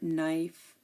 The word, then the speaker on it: knife: this one is easy K is silent before the letter N at the beginning of a word like KN or knife KN not and no